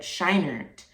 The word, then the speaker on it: Scheinert: I want to make sure I pronounce that right. Scheinert.